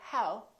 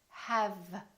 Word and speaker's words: have: The common mistake is that some people don't use the lower lip and they round their lips instead and they say how instead of have, have.